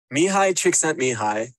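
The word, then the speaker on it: Mihaly Csikszentmihalyi: volume doesn't work please do let me know mihai trick sent me high and that's by the way how you say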